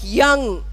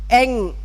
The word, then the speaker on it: young: You know, a simple word like yes, or a word like young, or a word like yellow. So simple, so often mispronounced as S, L-O, Eng.